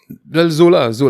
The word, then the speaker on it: Zola: Probably she's Zuela. Well, Zola. That's how they pronounce it? Zola, yeah. Zuela or something? No, Zola. No, I don't know that.